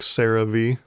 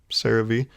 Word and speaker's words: CeraVe: got this lotion here cerave which is still the most funny name to me ever because it's spelled like this but it sounds like sarah v like someone's name cerave there was a sarah